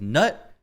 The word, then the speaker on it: Gnut: way to say it I think most people are going with nut whether that's the right way or the wrong way